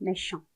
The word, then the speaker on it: méchant: méchant, méchant. 근데 마지막에 을을 붙이면서 여성형으로 바꾸면 méchante, méchante 이렇게 발음이 되죠.